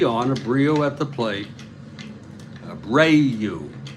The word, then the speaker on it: Abreu: Abreu. Jose Abreu is the Spanish pronunciation.